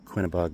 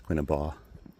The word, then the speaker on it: Quinebaug: So, I think the official name of this is the Quinebaug River Trail. Maybe they're not supposed to pronounce the G in that, so maybe it's Quinabaug.